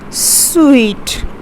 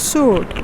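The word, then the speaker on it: suite: you pronounce this as sweet okay that's sweet you eat so it's pronounced as sweet and not soup okay you say it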